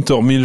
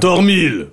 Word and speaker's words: Thormyl: Comme ça se prononce avec un H et un Y.